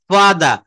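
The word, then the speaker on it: father: বলছে ফা ফা ফা ফা দাদা তো ব্রিটিশরা কিন্তু এই ফাদার বলে না ওরা কিন্তু শেষের র টা আর টা উচ্চারণ করে না ফাদা মাই ফাদার পাউন্ড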